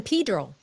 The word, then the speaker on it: San Pedro: But mấy người ở đó họ kêu là San Pedro. Oh, San Pedro. Yeah, it's San Pedro. Locally, we call it San Pedro. Yeah. San Pedro, like in the other in Spanish countries, they pronounce it Pedro.